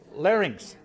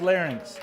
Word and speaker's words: larynx: vocal cords are Linx larynx larynx excuse me larynx is the part of your throat that contain I've said it wrong my whole life larynx no nothing nothing